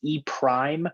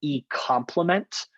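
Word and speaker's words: E′: right after e it's it's pronounced e prime or e complement um probably more so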